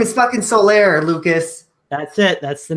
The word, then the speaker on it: Solaire: We're getting that amiibo of that guy that I can't pronounce his name. Someone say his name is fucking Solaire, Lucas.